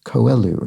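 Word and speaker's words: Coelho: name c-o-e-l-h-o is pronounced koelu he's Brazilian so it's a Brazilian uh it's a Portuguese name and Josh five now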